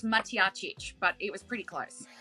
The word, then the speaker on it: Matjacic: the round in ning welcome to Showtime ly mackic and Mark Monroe firstly Lizzy did I get that pronunciation right you are pretty close Andrew pretty close it's maic but it was pretty close better than many